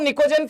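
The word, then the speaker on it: pnictogen: अगर मैं तो इसमें नाइट्रोजन को निकोजेन फैमिली कहा जाता है ऑक्सीजन को चल कोज तो यहां पे नाम लिख दे रहा हूं पीस साइलेंट है ठीक है निकोजन या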